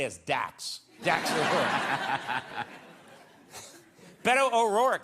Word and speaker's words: Beto: It's Beto. Beto, but I always want to say Beto. No, it's Beto. What I really want to say is Dax. Dax O'Rourke. Beto O'Rourke said, if we don't deal with climate